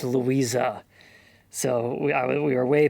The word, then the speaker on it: Louise: that Louise in German should really be pronounced Louisa. So we we were way past the point of being able to fix that when I realized that. But it should be Louisa.